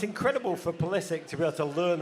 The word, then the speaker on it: Pulisic: It's going to be great that Modric's first words to Pulisic will be, it's pronounced Pulisic.